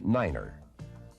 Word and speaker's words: niner: to represent these letters nine is the only number pronounced differently it is said as Niner the key to good